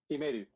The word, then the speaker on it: iMedu: What's the preferred pronunciation there, Vincent? iMedu.